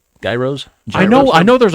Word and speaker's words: gyros: money no you don't when you pronounce it it's it's with a y at the beginning so when you say